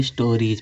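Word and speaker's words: stories: इस यस का उच्चारण क्या निकलेगा, जा निकलेगा, स्टोरीज पढ़ेंगे।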